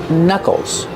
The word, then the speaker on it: knuckles: We see with the word knuckles, the K in the beginning is silent. We don't say knuckles. They're called knuckles.